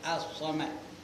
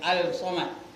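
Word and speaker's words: الصمد: nama asamad pulajaannya alamad Tapi bacanya apa assamad itu alif lam apa Alif lam syamsiah asamad namanya bukan alsamad manakala nama asamad pula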